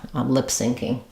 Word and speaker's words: lip syncing: that for the pronunciation we stress on the lip and the SN of SN so it sounds like lip sinking sounds the same as as this um like a sinking ship lip syncing um yeah um good